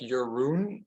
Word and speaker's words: Jeroen: of all hi I'm your room uh yeah you can pronounce it like your Rune but over the years